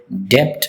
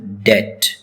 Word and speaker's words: debt: Many people mispronounce it as depth or debit, but it's correct pronunciation is debt. B is silent in this word.